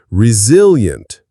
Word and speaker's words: resilient: Resilient. The stress is on the second syllable.